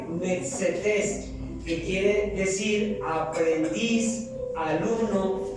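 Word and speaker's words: μαθητής: Y esta palabra discípulos viene del griego metzetes, con acento en la última E, metzetes, que quiere decir aprendiz, alumno y hermano como tú y como yo, que compartimos una fe.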